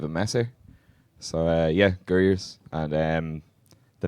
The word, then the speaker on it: Gurriers: yourself like you say this one uh it's gers uh it's Dublin slang for like Rascal or scallywag or something that like a bit of a Messer so uh yeah gers and um the name came from Mark the